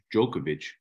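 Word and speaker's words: Djokovic: your head off what what's the proper way to say it as far as I know is jokovic that's what I said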